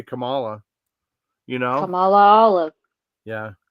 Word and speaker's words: Kamala: I think of because I she said it's pronounced Carmela but I would say Camala you know Camala Olive yeah Camala she has